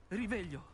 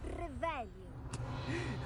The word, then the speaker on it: Revelio: Riveglio! Lo pronunci male. È Revelio. Molto meglio.